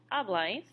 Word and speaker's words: habláis: Yo hablo, tú hablas, él, ella, usted habla, nosotros hablamos, vosotros habláis, accent on the A, ellos y ustedes hablan.